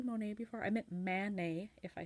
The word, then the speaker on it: Manet: I think you say monie before I meant Man nay if I said it wrong I want to